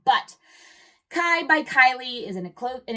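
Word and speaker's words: Khy: And that last brand is Kai by Kylie Kylie Jenner. And it's spelled KH Y.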